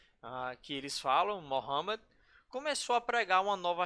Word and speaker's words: Mohamed: profeta maomé é o mohamed como é a pronúncia a que eles falam mohamed começou a pregar uma nova religião o islamismo